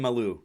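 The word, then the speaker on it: Mailloux: All right, you're gonna have to help me with the pronunciations. Logan Mala. Oh, Logan Maloo.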